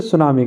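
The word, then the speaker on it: tsunami: क्या कहते हैं मित्रों उसे सुनामी कहते हैं इसमें टी साइलेंट रहता है ठीक है अब आप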